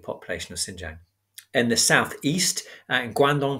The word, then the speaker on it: Xinjiang: But in the northwest, Xinjiang province, which is spelled X-I-N-J-I-A-N-G, Xinjiang province was outside of their control.